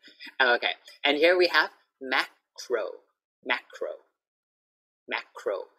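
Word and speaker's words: Makro: And here we have macro. Macro. Macro. So just to show you the R, even in the middle, we have to say it.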